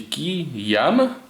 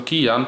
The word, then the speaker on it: QiYuan: mam tutaj przed wami kostki kijan bodajże czyta się to kian pisze przez Yu a n jak chc przeliterować Dlaczego